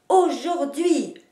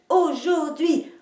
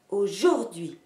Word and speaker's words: aujourd'hui: Et vous pourriez me dire aussi « aujourd'hui »,« aujourd'hui », en marquant les deux places de l'accentuation. Mais vous ne marquerez jamais l'accent sur la syllabe du milieu, ce qui donnerait « aujourd'hui »,« aujourd'hui »,« aujourd'hui ».